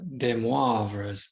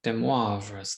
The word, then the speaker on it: de Moivre: This one is on de Moivre's theorem. I've been practicing that pronunciation. It's a French mathematician, de Moivre's theorem.